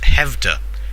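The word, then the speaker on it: Skövde: It's spelt Skovdi, Okay. but I went to Wikipedia, and Wikipedia told me it was pronounced Hevda, so who knows.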